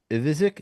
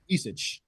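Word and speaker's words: Ivišić: You mentioned another one, Zvonimir is Ivizic. Did I pronounce that one right? Ivisic. Ivisic.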